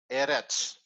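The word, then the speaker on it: ארץ: there are situations like the word eretz which means earth let's change color the syllable divider is here but the stress is on the first syllable eretz yeah okay what we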